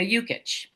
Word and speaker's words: Yukich: The the basketball player really helped in the pronunciation of my name.